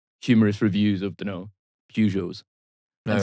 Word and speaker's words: Peugeot: like, just reading just like humorous reviews of, Peugeots. No, and right, stuff. What? yeah. Excuse me? Of humorous reviews of Peugeots.